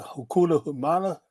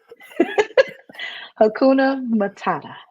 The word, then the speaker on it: Hakuna Matata: So how do you pronounce that? Hakuna Humana? Hakuna Matata.